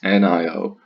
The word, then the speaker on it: Nio: be looking at today is niio or Neo as I pronounce it and Neo is